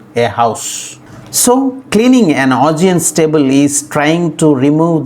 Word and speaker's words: Augean: So finally Augean is pronounced as Augean. Augean. The stress is on the second syllable G.